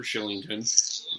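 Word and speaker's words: Kylington: They actually have done, I mean, you end up with an Oliver Shillington, pronounced with a K, and you end up with a Rasmus Anderson.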